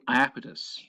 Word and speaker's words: Iapetus: closing of an ancient ocean it was called iapetus which is spelt i-a-p-e-t-u-s and fun fact this uh name